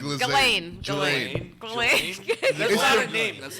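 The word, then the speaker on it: Ghislaine: There's no L. Lizaine. Glizaine. Who's this Glizaine now? Now it's Glizaine. Glaine.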